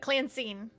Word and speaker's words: Cline: name yeah it's it's it's like Clancy but Cline Clan are we able